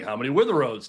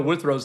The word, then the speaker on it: Withrow: And again, I'm like, how many Witherows does one know out there? I know Withrow's not a common name, but come on. On this show, we'll get it right.